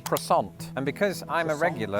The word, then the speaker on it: croissant: In Britain with this word the French somehow convinced us to say that as quason. Now it feels weird that I'm saying it like that. In American they've just abandoned the French altogether with that particular word and they say croissant.